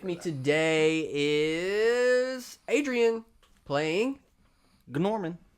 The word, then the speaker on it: Gnorman: All right, so with me today is Adrian playing Gnorman. Gnorman, that's right.